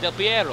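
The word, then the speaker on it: Del Perro: beach there's a pier del pero pier now i got del piero up here that's how you say it all right um this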